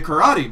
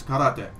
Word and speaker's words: karate: Japanese people get all edgy when I say karate because they're like, it's karate.